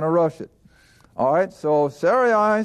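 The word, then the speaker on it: Sarai: we're not going to rush it alright so sorry I said unto Abram now I'm pronouncing it the way it should be pronounced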